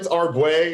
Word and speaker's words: Arbouet: All right, here we are with Arbouet. Did I say that right? You did say it right. Pretty right. Pretty right. How do you say it? No, it's Arbouet. Arbouet.